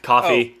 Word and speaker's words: Ko-fi: Coffee. Oh, coffee. That's spelled weird. I don't like it. That's how the Coffee company's... page. For those of you who don't know, coffee is for some reason spelled Ko-Fi.